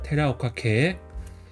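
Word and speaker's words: 寺岡家: 그래서 절사 같은 경우는 이제 일본어로는 테라라고 있습니다. 그다음에 이거는 산성의 강은 오카 지카는 케라고 읽어서 테라오카케라고 읽습니다. 그래서 테라오카케.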